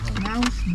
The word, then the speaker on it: Knaus: Now's Berry Farm. Knaus Berry Farms. Well, they're German, so you don't pronounce them. K.